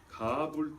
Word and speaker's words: 가불: 그냥 가불이라면 오해할까봐 하나님 좀 땡겨주세요 하고 이런 가불로 생각할까봐 히브리 말로는 가불입니다. 발음이 강합니다. 억셉니다. 가불입니다. 가불. 근데 우리나라 번역은 부드럽게 하는 특성이 있었고 이걸 부드럽게 가불이라고 그랬단 말이에요.